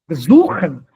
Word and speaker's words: besuchen: Besuchen. Not besuchen. Besuchen. Suchen. It's on the part, second half, not on the prefix.